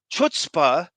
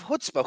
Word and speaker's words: chutzpah: And so obviously your country is going to phonetically want to pronounce something with the CH, chutzpah, instead of chutzpah.